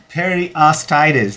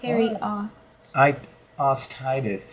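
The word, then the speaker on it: periostitis: So, um I'm glad like you pronounced it wrong, right? All right. Perostitis, right? So, what that means is I was so close. Yeah, you're close. Yeah, you're close. Yeah. Perry ostitis.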